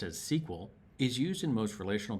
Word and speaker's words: SQL: For example, SQL, structured query language, usually pronounced as SQL, is used in most relational databases to pull selected information.